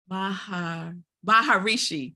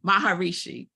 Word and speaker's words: Maharishi: Shri I always say his name ranked wrong baharishi Maharishi Maharishi so he's a Hindu religious leader who